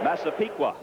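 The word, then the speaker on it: Massapequa: And you pronounce it for me, Mike. I know it's New York. Masipiqua. Masipiqua, New York.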